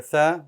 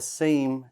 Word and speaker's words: ث: and we cannot have that. So remember that tha is not the same as the sin. Don't say sa, tha.